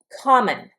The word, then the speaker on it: common: Common. Common. The accent is on the first syllable here.